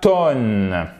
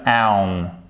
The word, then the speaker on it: town: Ensuite, ce n'est pas tone. Donc là, qu'est-ce qu'on fait? Ok, une syllabe, pas d'accent tonique. On va aller chercher tout de suite la prononciation du O. Et là, en fait, on voit que notre O il s'est transformé en diphtongue, c'est-à-dire un double son comme ceci. Ok? Et ça nous donne town.